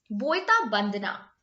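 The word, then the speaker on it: Boita Bandana: ये जो फेस्टिवल है इसको जब आप प्रोनाउंस करोगे ना, बोयता वंदना, यहाँ वेस्ट बंगाल में आपने जनरली देखा होगा, उड़ीसा में, वेस्ट बंगाल में, यहाँ पर वा को बा बोला जाता है, राइट।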